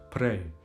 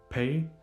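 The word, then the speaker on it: prej: Some speakers say pay instead of pre and some shorten it even further and they say p yos. I'm from Kosovo.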